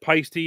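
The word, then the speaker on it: Paiste: We all know that Peisty, well, most of us drummers know that Peisty is pronounced Peisty. That's it's just the way it is. It is pronounced Peisty. It's an Estonian word meaning to shine.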